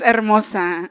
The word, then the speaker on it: Hermosa: I'm like, it's Hermosa.